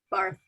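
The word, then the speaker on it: Barthes: And you said, is this in regards to the Bart's essay? Is that how you pronounce his name? Barth.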